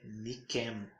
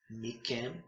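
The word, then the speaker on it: מכם: pronunciado com som gural aqui é mikem mikem porque o dages forte no CAF funciona tanto como dages forte como dages Len então quando um dages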